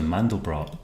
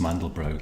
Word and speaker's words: Mandelbrot: If you search for the Mandelbrot, or the Mandelbrot I should say, I think his name is pronounced Mandelbrot, the guy who discovered this, you'll get a whole variety of images.